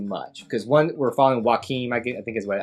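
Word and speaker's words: Joachim: because one we're following joakim i think is what how you say is it's spelled like walking phoenix but it's joaquim i think it's how you say i think that's right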